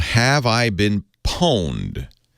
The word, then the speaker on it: pwned: called Have I Been Pwned? That's owned spelled with a P.